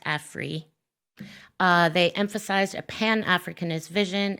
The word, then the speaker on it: Afri: By prefacing Cobra with Afri, and they were insistent that it be pronounced Afri, they emphasized a Pan-Africanist vision and consciousness, and